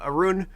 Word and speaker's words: Arun: up i've got uh arun whose name rhymes with harun my last name uh